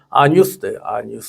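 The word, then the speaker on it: Agnus Dei: 그 라틴어 찬양에 보면 항상 맨 마지막은 그 아뉴스데이라고 그래가지고 그 뉴스데이인데 그 라틴어는 A하고 G가 이렇게 G가 묵음으로 되고 이렇게 이제 그 복모음으로 돼요. 그래서 아뉴스데이. 그 뉴스데이.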